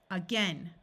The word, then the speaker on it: again: This A will schwa and sound like a short U. Again, again, again.